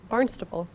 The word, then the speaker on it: Barnstaple: say it like you say over in England. Barnstable. Barnstaple, but we're in Florida, so So I it's call it Barnstaple.